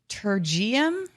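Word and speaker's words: pterygium: the red like a it's called a tergeum or something like that um with a silent patergium okay um so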